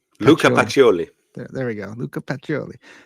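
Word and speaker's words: Pacioli: P can you say his name the P picoli pacholi Luka pacholi there we go Luca pacholi um and their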